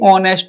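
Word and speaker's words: honest: तो ऑनेस्ट में आपका एच जो है ना वो साइलेंट है। साउंड किससे आता है? ओ से। ऑनेस्ट।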